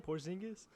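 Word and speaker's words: Porziņģis: Porzingis? Porzingis. Spell it.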